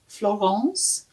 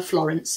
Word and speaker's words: Florence: she is is called Florance so you can call her Florence if you want but she likes it to be pronounced in the French way she has French relatives